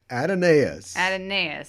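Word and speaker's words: Aeneas: entire life yes uh it is pronounced adenaes it has four syllables okay do you know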